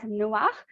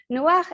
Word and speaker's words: Noach: So we find in Genesis 6, verse 8, this first verse that says, but Noach. Noach is the Hebrew word or pronunciation for Noah.